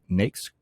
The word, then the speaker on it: NAICS: A NAICS code, pronounced NAICS, is a classification within the North American Industry Classification System.